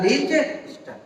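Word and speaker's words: Liechtenstein: Switzerland और Austria के बीच में एक देश स्थित है जो बोला जाता है लिंचस्टेन। टी यहाँ पे साइलेंट है।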